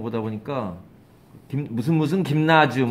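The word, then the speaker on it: Gymnasium: 저건 독일말로 가면 스펠링이 똑같은 걸로 알고 있는데, 독일어로 가면 저걸 뭐라고 있냐면, 김나지움, 이렇게 읽어요.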